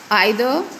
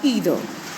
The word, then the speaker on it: either: They include, you can pronounce it as either or either. It is up to you how you can pronounce these two words.